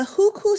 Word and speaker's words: hukou: who system in mainland people's republic of china it's spelled h-u-k-o-u the huku system is china's household registration system in a